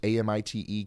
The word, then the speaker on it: Amite: do you pronounce Amite Amit County and Mississippi like the locals is it Amite or AIT it's pronounced Amit County all right thank you